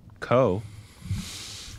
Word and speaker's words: Ko: Ko. Is that how you pronounce that? Yeah.